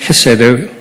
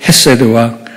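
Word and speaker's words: חסד: 제가 오늘 설교할 제목인 헤세드 하나님의 인자하심 있니다 정확한 히브리 발람은 했어야 돼 저 목 뒤에서는 어 러 사운드인데 우리 한국 사람들이 잘 발음하기가 좀 어려운 그런 발음입니다 일반적으로 영어를 영어로는 그냥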